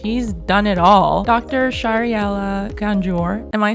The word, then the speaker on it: Shahriela Ganjoor: Shahriela Ganjoor. Am I saying it correctly? Yes, you pronounced it perfectly, Jamie.